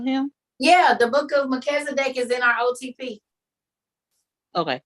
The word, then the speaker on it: Melchizedek: I think the name is pronounced Melchizedek.